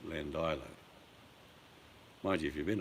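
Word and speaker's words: Llandilo: You pronounced... It's a Welsh nightmare. Lilando, That's it. That's how you pronounced it. but it's Landilo.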